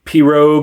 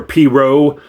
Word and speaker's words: pirogue: looked it up and apparently it's progue or progue depending on where you are. or I guess the Cajuns call them P rogues with a hard G.